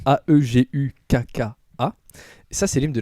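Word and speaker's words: 애국가: Et donc, l'hymne de la Corée du Nord, alors je vais essayer de vous prononcer le mot, ça s'appelle Aeguka. Je sais plus ce que ça veut dire exactement. En fait, c'est Aegukkka.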